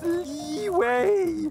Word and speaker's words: Liyue: It's pronounced Liyue.